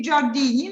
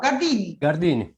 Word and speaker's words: Gardini: So let's first, so we have now in our program Marco Gardini, and am I pronouncing right? It should be Giardini, no, Gardini. Gardini, so I'm okay.